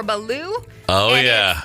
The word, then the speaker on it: balut: This is one that my Navy buddies have told me about, so you're going to find this overseas, and I believe it's pronounced balut or baloo.